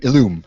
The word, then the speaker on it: Illum: How do you pronounce it? What's it called? The Illum, yeah.